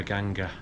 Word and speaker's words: Ganga: It's 1:30, driver's picking us up at 3:30, and we're going down to the Ganges, the River Ganga. You say it like that? That's what Indians call it. Yeah.